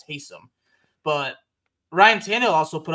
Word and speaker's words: Taysom: It's not Tyson, it's Taysom.